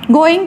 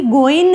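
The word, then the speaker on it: going: आई हैड not been गोइंग to Lahore. अच्छा, गोइंग हम बोलते हैं, लेकिन जो सही प्रोनाउंसिएशन है इसकी गोइन है, जी इसमें साइलेंट कर देते हैं वो जो नेटिव स्पीकर्स हैं।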